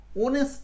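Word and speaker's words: honest: হচ্ছে অ আকারে উচ্চারণ হচ্ছে এটা কিন্তু ও উচ্চারণ হচ্ছে না অনেস্ট না অনেস্ট মানে উচ্চারণটা ও তে যায়নি ও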